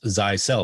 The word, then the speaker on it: Zyxel: you to think of zysel and um that's pronounced zai cell like you sell zeiss cell and so think of